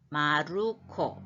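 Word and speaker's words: マルコ: 거를 하면 마르코 마루 마루가 아니고 마루 마루코 마루코 이거는 영어로 마크잖아요 마크를 일본은 이렇게 모음을 영어로 할 때 막 그 하면 음절이 하나예요 그런데 이거는 마루코 세용절로 됐어요 받침을 모음을 넣어주는 거죠 마크를 마르코라고 읽고요 가로 안에 있는 마가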